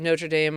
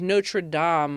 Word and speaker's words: Notre Dame: I was at the University of Notre Dame Australia last night. We say it wrong, by the way, in the United States. So, I was at the University of Notre Dame Australia.